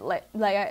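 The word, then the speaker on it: Leah: I know you got, it's Leia. It's literally pronounced Leia.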